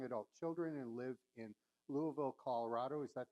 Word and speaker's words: Louisville: She and her husband Phil have 2 young adult children and live in Louisville, Colorado. Is that how you say it in Colorado? No, we say Louisville. Louisville. You pronounce all the letters.